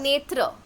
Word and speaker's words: naître: naître. On le prononce comme naître.